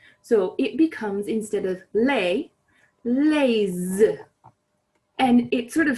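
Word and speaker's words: les: thee is normally pronounced lay but even though it's spelled l-e-s that final s is not normally pronounced however when it is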